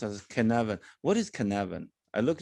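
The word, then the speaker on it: Cynefin: see that again connect yes so it's uh pronounced as canva what is canavan i looked it up and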